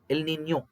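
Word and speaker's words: El Niño: ಹಂಗೆ ಸ್ಪಾನಿಷ್ ಪದಗಳಿದೆ ಸ್ನೇಹಿತರೆ ಎಲ್ ನಿನ್ಯೋ ಲಾನಿನ್ಯ ಎಲ್ ನಿನ್ಯೋ ಅದನ್ನು ಹೇಳ್ತೀನಿ ನಾನು ನಿಮಗೆ ಎಲ್ ನಿನ್ಯೋ ನೋಡಿ ಆ ಪದಗಳ ಉಚ್ಚಾರಣೆನೇ ಗೊತ್ತಿಲ್ಲ ಎಷ್ಟೊಂದು ಜನಕ್ಕೆ ಎಲ್ಲಾ ಎಲ್ಲಿನೋ ಅಂತಾರೆ ಎಲ್ ನಿನ್ಯೋ ಯಾವತ್ತು ಯಾವತ್ತು ಕೊಡಬೇಕು ಅದು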